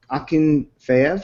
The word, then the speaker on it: Akinfeev: to share that the Moscow goalkeeper Igor Akinfeev aachen fea I wanted to say his name just cuz I I could sort of pronounce it I don't have anything else to